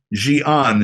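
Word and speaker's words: Xi'an: the country uh then we went uh to Gian it's spelled XI apostrophe a-n um and that's about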